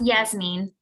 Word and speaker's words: Yasmin: name uh in nevada is it jasmine yasmin it's yes mean yes mean thank you and forgive